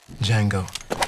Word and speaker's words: Django: dirty what's your name d Jango d j a n g o the D is silent adult supervision is required